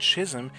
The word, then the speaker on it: schism: The very same thesis that led to the great schism in Sepherism. Schism, that's how you pronounce that.